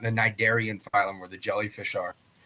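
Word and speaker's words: Cnidaria: The C is silent in both of those words. Tenafha and Nidaria.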